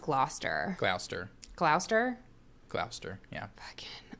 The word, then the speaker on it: Gloucester: I think it's pronounced Gloucester.